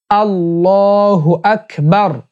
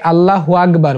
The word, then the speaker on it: আল্লাহু আকবার: সুবহানাল্লাহ সুবহানাল্লাহ সুবহানাল্লাহ দ্বিতীয়টি আল্লাহু আকবার আল্লাহু আকবার আল্লাহু আকবার অনেকে আল্লাহ আল্লাহু আকবার বলে এটা ভুল উচ্চারণ আল্লাহ বলতে হবে আর হু আকবার বলতে হবে তাহলে আল্লাহু আকবার তিন